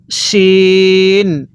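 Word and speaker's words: ش: দেখুন এরকম মাথা দোনোটারই থাকবে কিন্তু শিনের উপর তিনটা নক্তা থাকবে আর যেটার উপর নক্তা থাকবে ওটা মোটা করে পড়তে হবে। কিভাবে পড়ব? শিন। আর এটা নক্তা ছাড়াটা চিকন করে পড়ব সিন।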